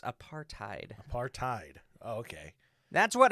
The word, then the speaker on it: apartheid: of apartheid. Oh pretty yeah, and much. I got fucking ratioed by some asshole. It's apartheid.